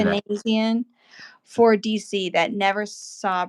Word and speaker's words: Panosian: Panosian is how you say that. Panasian for DC that never saw print for whatever reason.